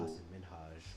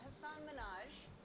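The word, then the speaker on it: Hasan Minhaj: Hassan Minhaj, where she mispronounced his name, then insisted that she'd got it right. And it's Hassan Minhaj.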